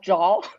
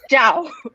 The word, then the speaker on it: Zhao: pronouncing it right because my last name is dao not dao not or jaw it's ciao i know you probably